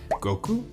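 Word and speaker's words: 悟: Goku's version has a large kanji character printed on the dial that's pronounced Go, and it means wisdom.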